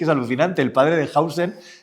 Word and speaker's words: Huijsen: El padre de Hausen, que yo lo he aprendido a decir hace poco porque lo dicen los medios de comunicación, Hausen, Huijsen, para los que no saben pronunciar en holandés, que es un futbolista,